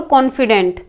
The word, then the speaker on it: confident: Next है कॉन्फिडेंट और कॉन्फिडेंट, same pronunciation है, ठीक है, कॉन्फिडेंट एंड कॉन्फिडेंट।